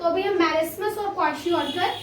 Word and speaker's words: kwashiorkor: ठीक है, प्रोनाउंसिएशन थोड़ी सी हार्ड है. it is kwashiorkor.